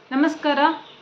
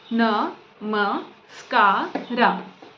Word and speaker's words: Namaskara: Namaskara pronunciation na, ma, ska, ra.